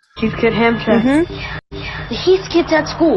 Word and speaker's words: Heathkit: I thought when I'm reading it, I would pronounce it hat kid, but so you see, EA is a weird. You know, combination of letters. Heathkit Ham Shack.